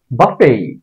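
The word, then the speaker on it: buffet: এটা বাফেটও না আসলে বুফেও না এটার শুদ্ধ উচ্চারণ হচ্ছে বাফেই বাফেই বাফেই এই বাফের প্রকৃত অর্থ হচ্ছে ঘুষি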